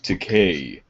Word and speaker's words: Takei: Remember, it's Takei, like to pay.